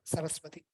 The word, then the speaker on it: Saraswati: And then the last one, sa, is easy, right? Saraswati, soft Saraswati, right? Shiva, Vishnu, Saraswati.